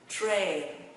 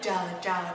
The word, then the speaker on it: train: A, train, tra, tra, train. Không đọc là trờ, trờ đâu ha.